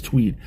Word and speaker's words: TUIDE: It's I mean it's spelled like Twide, but it's Tweed.